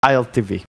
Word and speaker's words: ILTW: ILTW also plays a very good Warlord. But it's pronounced ILTV. ILTV? I think it's ILTV. ILTV plays very good throw. W in Cyrillic language is a V.